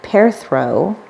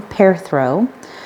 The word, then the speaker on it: Perthro: the time between battles perthro pronoun pronounced pair throw all right I've been saying it wrong pair throw which is the shape